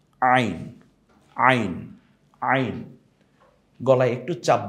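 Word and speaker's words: عين: দুইটা এই হরফটার নাম কি একটু দেখি তো আইন আইন আইন গলায় একটু চাপ দিয়ে উচ্চারণ করতে হবে হা এর মত যেখান থেকে কণ্ঠনালীর ঠিক মিডেলে আমরা এখান থেকে বলবো আইন এটা যদি আইন হয় এই হরফটা এখনো কি আছে আইন আছে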